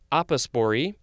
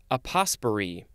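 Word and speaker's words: apospory: a couple of ways first way is apospori second way is aposperi a-p-o-s-p-o-r-y this is a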